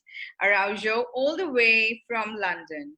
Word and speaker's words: Araujo: And today I'm here with Araujo. Am I right in pronouncing Yes, your surname? All right. Araujo, all the way from London.